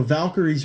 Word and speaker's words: Valkyrie: of that time now I don't know how anyone can mispronounce the word Valkyrie especially when you look at it but I have seen multiple people pronounce it Val Kyrie and with that space in it so I don't know